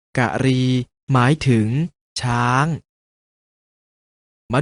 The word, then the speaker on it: กรี: ๆ เห็น อยู่ นี้ ถึง แม้ จะ เขียน เหมือน ตรี แต่ ออก เสียง ว่า กะหรี่ หมาย ถึง ช้าง มา